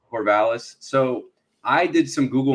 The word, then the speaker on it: Corvallis: But, you know, so Corvallis, right? Am I saying it right? Is it? Yeah, Corvallis. Corvallis.